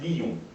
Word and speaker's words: lion: L'exemple le plus célèbre, c'est lion, qu'on va prononcer lion.